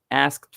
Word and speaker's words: asked: Asked for. The pronunciation asked. Okay, لأن هنا الإيدي جاية بعد voice sound فتنطق T. Okay, asked.